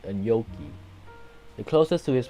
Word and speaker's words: gnocchi: So far, Wiktionary does not mention anything about pronouncing it like a gnocchi. The closest to his pronunciation is General American gnocchi. The term is derived from Italian, which is pronounced gnocchi.